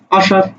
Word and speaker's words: আষাঢ়: এই আষাঢ় শব্দের উচ্চারণ কি? দেখো, সরেয়া তালব্য সয়াকার র, আষাঢ়। তাহলে মূর্ধন্য ষর উচ্চারণ কার মতো হচ্ছে? তালব্য স।